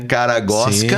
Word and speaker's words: Karagozwk: Caragosca. Sim. Bem tranquilo. Como que pronuncia? É fácil, né? Você pensa assim: "O cara gosta" e troca o tá por K.